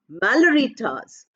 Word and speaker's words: Malory Towers: So we don't stress the second part. Malory Towers.